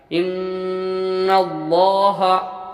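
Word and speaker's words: إن الله: ज़बर की मिसालें, इन्नल्लाह, यहाँ आप नाज़रीन किराम देख सकते हैं कि लफ्ज़ अल्लाह है और लफ्ज़ अल्लाह से पहले ज़बर है, तो हम लफ्ज़ अल्लाह को पुर यानी मोटा पढ़ेंगे।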